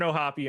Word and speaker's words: O'Hoppe: Ryan O'Hearn, Logan O'Hoppe, Tyler O'Neill. They are the three votes for chat today. Can I say how much it bothers me that it's not just pronounced O'Hop?